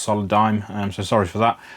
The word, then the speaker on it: Solidigm: start of the video I called it solid Digimon I believe it's pronounced solid dime I'm so sorry for